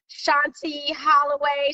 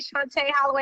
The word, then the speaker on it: Shantí Holloway: are just chiming in shanti holloway chante holloway i'm saying it wrong i'm sorry but you know why because every time you look at my name you automatically say shanti so if it's cool